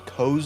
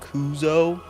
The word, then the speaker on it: Koo: actually um my my character's name is Koo not kuzo just wanted to point that